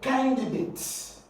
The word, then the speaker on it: candidate: ATE. When the word ends in ATE, you're going to stress it on the third syllable to what? To the end of the word. So here we're going to have can, and then you have D, and then you have date.